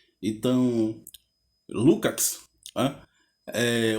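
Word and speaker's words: Lukács: E Lucas era húngaro e ele dizia que na Hungria se pronuncia Lucat, né? Então, Lucat, né?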